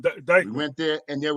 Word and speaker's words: Dyckman: Is it Dickman or Dyckman? And we went to, Dyckman, yeah. Mm-hmm. Right, Dyckman.